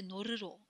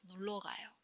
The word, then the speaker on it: 놀러 가요: So we don't say 놀으로. It just sounds funny. So in this case, if the 받침 is lil, this one disappear and it says 놀러 가요.